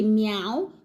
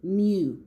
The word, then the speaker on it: mew: Most people say meow, but the pronunciation is mew, okay?